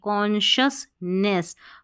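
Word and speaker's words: consciousness: एन कौन शस देखिए एस सी आई ओ यू एस को शस पढ़ेंगे कॉन्शियसनेस कॉन्शियसनेस यानी कि जागरूकता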